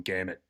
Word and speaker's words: Gehamat: Uh he also said you have heard his name properly said now there is no R in gamut.